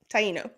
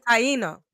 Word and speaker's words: Taino: Taino. Taino.